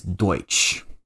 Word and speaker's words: Deutsch: would pronounce it as Deutsch. So, Dutch and Deutsch, it's it's it's similar, but it's still two different languages.